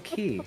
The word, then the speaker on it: Key: have been perfect time for uh Keegan Michael Keel or whatever you say his name to go uh I don't know I can't talk heal now peels the other guy Jordan peel Keegan Michael Key yeah thank you the other mechanic that's unique